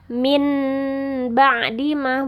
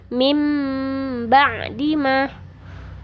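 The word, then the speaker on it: من بعد ما: Jadi bukan bacanya min ba'di ma, bukan jadi nun mati atau nun sukun, tapi mim ba'di ma, seperti itu.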